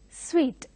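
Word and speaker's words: suite: in hotels and those rooms are called as sweet though they are the spelling is su ite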